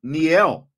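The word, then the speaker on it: Niele: Dame women's basketball team's first name is pronounced Neel ask Brian how to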